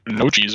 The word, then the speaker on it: gnocchi: the ball pasta ball I think we pronounce it no cheese over here or something like that maybe I maybe we pronounce it wrong around here nochi yeah I think that's what it is that how it's supposed to be well that's not how